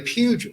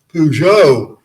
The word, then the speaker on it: Peugeot: and people would say why do you mispronounce your name what do you mean well you say puget it's not puget it's peugeot i thought well i guess i better learn